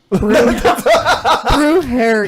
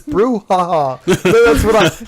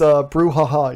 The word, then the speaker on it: brouhaha: Brew hair, yeah. No, it's brouhaha. That's what I get out of that, Hector. Thank you for the correction. It's brouhaha, you guys.